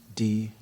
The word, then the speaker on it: Django: D-J-A-N-G-O. The D is silent.